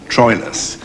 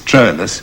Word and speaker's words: Troilus: sound than hector yes they also pronounce what we call troilus astrolus which sounds more romantic which probably befits his character and in that case troilus shakespeare sometimes scans the